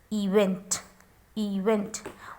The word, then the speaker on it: event: So E, we are pronouncing this E as a long E. Event. Event.